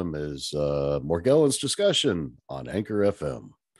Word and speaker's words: Morgellons: ways already it seems seems like the physicians and that are treating it and the scientists that are researching it pronounce it with the soft g the more gelens and